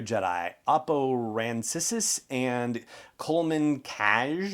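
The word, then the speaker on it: Kcaj: oppo rancisis and coleman cash or k-jazz it's spelled like jack but backwards k-c-a-j and as we know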